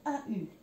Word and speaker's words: au: Maintenant, والآن لاحظوا هون عندي AU. Le AU باللغة الفرنسية ينطق O. Il est un petit peu long, طويل نوعا ما.